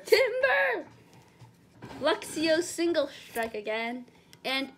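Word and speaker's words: Timburr: That's pronounced Timber!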